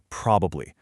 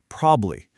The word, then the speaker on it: probably: In everyday casual chat, native speakers, we almost never say probably. We kind of get lazy and just chop out that middle part. It gets shortened down to two syllables, probably.